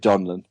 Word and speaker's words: Donlan: I I live with I live with donin but I'm happy to answer to anything no I can appreciate